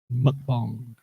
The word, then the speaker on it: mukbang: She said it's not bang, it's pronounced like bong. Mukbang.